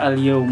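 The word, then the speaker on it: اليوم: jadi bacanya Alia Ungu seharusnya dibaca alyawm uh tetapi dibaca alyawm gitu ya maheza Liow hari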